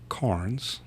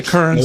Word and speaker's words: Carnes: So I thought we would drag Carnes. No E. I always say Kearns, and it's bad.